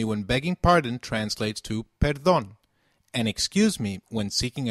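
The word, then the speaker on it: perdón: if we were begging pardon we will say Peron very good let's quickly revise the phrases we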